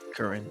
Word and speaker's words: Curran: Enough by Thomas curan that's how you pronounce his name j Kuran yeah Kuran Kuran but yeah um amazing book